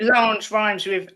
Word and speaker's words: Lange: I'm excited that Lange rhymes with Ange and also with Flange.